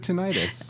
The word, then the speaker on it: tinnitus: case tinnitus Oh uh-huh which is not pronounced tinnitus apparently but really I've always said tinnitus I have too but I was corrected oh um so every